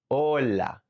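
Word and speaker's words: hola: If you pronounce the H in this word, native ears hear something else cuz remember the H in Spanish is silent. So it is ola.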